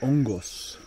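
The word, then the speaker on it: hongos: mushrooms right cheers yes but the h is silent so ongos and there's a volcano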